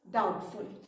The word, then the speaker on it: doubtful: that is known as doubtful. So doubtful, D-O-U-B-T-F-U-L, doubtful. बेटा इसमें doubtful जो word है, when we pronounce this word, इसमें B silent है, ठीक है.